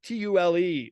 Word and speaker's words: Tule: The Germans would pronounce it Thule. This is Tule, like the Thule reeds, and they would make